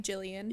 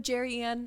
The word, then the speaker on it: Jillian: I think I usually pronounce my name quite well. Been I've been doing it for a while. and one client before she leave. She's like, you know, Jerryanne, it was so nice to meet you.